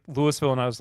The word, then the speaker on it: Louisville: Since moving down to Indianapolis, I have learned that to say Louisville properly, you need to use as little consonants as possible.